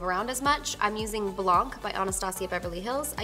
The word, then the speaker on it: blanc: Blanc, Blanc, I say it wrong. I know it's not Blanc, it's Blanc, Blanc, Blanc.